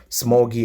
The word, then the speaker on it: ksmuggy: This is my own username right here, Smoggy. Alright, so this first K is silent, but it is pronounced as Smoggy.